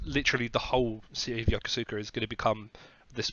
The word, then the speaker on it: Yokosuka: Yeah, in I'll pronounce this correctly. Yokosuka. Yokosuka? Yep, Yokosuka.